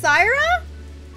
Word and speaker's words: Saira: you didn't know that my name was pronounced Sarah what what wait how